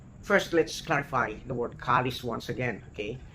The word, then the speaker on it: kalis: in Spaniard the word kalis when they speak fluently the S at the end of kalis is not recognized okay K it's almost silent but the the spelling